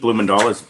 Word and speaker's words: Bloemendaal: Well, my name's Keith Bloemendaal, as Mike said. It's a Dutch name. I didn't ask for it. It's spelled weird, but that's my name.